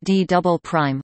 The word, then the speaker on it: D″: The lowest part of the mantle next to the core mantle boundary is known as the D, pronounced D double prime, layer.